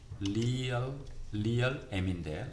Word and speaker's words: realm: real m인데 realm이라고 발음.